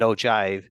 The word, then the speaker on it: ogive: is kind of pronunciation it's not ogive it's actually more of a j sound and ogive an ogive is a